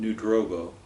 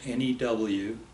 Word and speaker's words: New Drobo: The town I lived in was called New Drobo. Spell that, please. N-E-W-D-R-O-B-O, New Drobo.